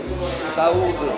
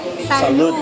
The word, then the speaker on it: saúde: Saúde. Salud. Odi. Salud. Salud. Saúde. Saúde. Saúde. Saúde. Saúde. Like saúde. Not hell. Not ill. Saúde.